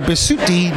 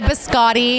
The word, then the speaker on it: Bisutti: my name so nicely a lot of people say biscotti and they think i'm like a hard little cookie that you dunk in the in your coffee biscotti there's not even